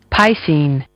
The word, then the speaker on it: piscine: spelled p i s c i n e pine pine pine your word of the day is pronounced Pine it's an adjective a descriptive word